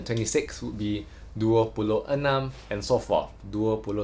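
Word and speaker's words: enam: six which is e and the m is Anam not inam so e in this case in Malay is pronounced as a the vowel e is all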